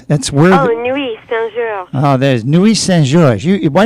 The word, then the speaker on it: Nuits-Saint-Georges: Pronounce that for me in French. ITS. That's where. Nuit Saint-Georges.